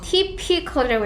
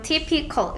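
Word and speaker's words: typical: 이제 내려가면 맨날 잘못 읽는요 전형적인 티피컬이라고 읽어야지. 앞에 TY인데 어 타이라고 읽지 않고 그냥 티피컬 렇게 읽어요.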